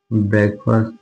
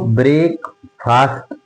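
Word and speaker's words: breakfast: बोलेंगे eat your ब्रेकफास्ट इसको ब्रेक फास्ट नहीं बोलेंगे। यह ब्रेक फास्ट नहीं है। इसकी स्पेलिंग अलग-अलग देखें तो ब्रेक और फास्ट है। लेकिन अगर इसको हम साथ बोलते हैं तो ब्रेकफास्ट होता है। ब्रेकफास्ट। तो ब्रेकफास्ट नहीं ब्रेकफास्ट। Eat your ब्रेकफास्ट।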